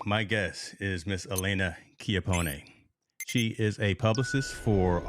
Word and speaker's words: Chiappone: It's in Chiappone.